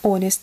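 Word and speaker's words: honest: hest кому-то понравится да честный hest здесь буква H не читается Кто не знает hest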